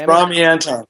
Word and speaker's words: Ramy Antoun: How you pronounce it? It's Ramy Antoun.